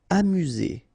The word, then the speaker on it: amusé: Amusé. Okay, accent aigu at the end, so E, Z.